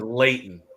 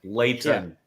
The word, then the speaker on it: Leighton: Anyway, um but his name is Leighton. Leighton. late.